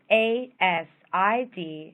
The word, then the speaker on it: ASID: Society of interior designers always pronounced asid not as one word is the oldest and